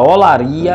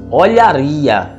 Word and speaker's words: Olaria: no olharia novamente gente ela se pronuncia é para falar Olaria ela diz olharia é isso é a